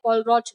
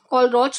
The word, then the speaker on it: Kohlrausch: उस लॉ को हम बोलते हैं कॉलरॉच लॉ। कौन सा लॉ? कॉलरॉच लॉ।